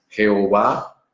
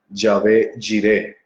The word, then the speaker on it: Yahvé: Entonces va a aparecer, por ejemplo, Jehová, que ya he dicho que es una mala transliteración, una mala pronunciación del nombre. Va a aparecer, por ejemplo, Yahvé Jireh, pero muchos lo conocen